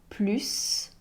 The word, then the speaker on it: plus: Dans une phrase affirmative, on prononce le S comme plus, sauf si c'est une comparaison portée sur un adjectif ou un adverbe.